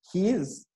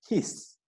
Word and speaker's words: His: So this bundle of His, so this is not pronounced as His, it's pronounced as His with a double S.